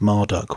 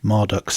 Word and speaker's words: Marduk: theme of serpentine Conquest marduk's symbolic animal and servant whom he once vanquished is the dragon mushusu and Marduk whose name was likely originally pronounced as marutuk was associated with the